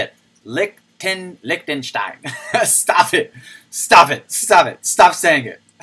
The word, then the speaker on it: Liechtenstein: There's no K. Liechtenstein.